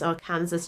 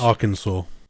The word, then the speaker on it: Arkansas: this guy comes in and his name is our Kansas Jack and um he claims to be the best Trapper the most fearsome you know there's not a creature that he hasn't trapped it's pronounced Arkansas I don't know AR Aras it's SP Aransas